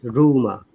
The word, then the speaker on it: rumor: Like rumor. Listen to this word, rumor. First Oh, R is okay, last R is silent.